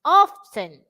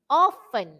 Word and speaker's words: often: is there will be we can use two, okay, two pronunciation for this type of word, okay. Often is for British, often is for American, okay.